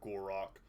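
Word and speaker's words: Gor-Rok: released alongside this DLC includes Elizabeth legendary Lord gorac that's how you have to say his name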